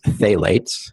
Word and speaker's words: phthalates: ph th ala tes but it's pronounced they lates mm mi T which